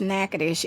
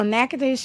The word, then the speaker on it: Natchitoches: There was an exit that says Natchitoches. It doesn't spell. It's not spelled like I just said it.